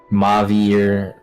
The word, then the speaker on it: Mauvier: Mauvier.